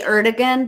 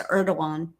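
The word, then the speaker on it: Erdoğan: video as well it's erdogan is how you pronounce his Eran we say erdogan but it's erdogan that's how they that's how pronounce it yeah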